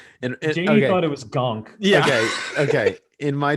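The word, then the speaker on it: Ganke: fair i feel like gonk is also fair i feel like we're overly hating on jd gonk is like you kind of understand gang because it's spelled g-a-n-k-e all right gunk seemed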